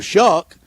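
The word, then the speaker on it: Shough: We were there the night we saw Tyler Shuck. I don't know how he came up with Shuck at S H O U G H.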